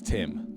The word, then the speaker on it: Ptim: Timothy Wolf, better known as Tim, the P is silent, had a very interesting childhood, and one that is shrouded in mystery to some degree.